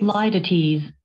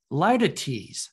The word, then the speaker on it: litotes: Litotes. Litotes. That's how you pronounce it.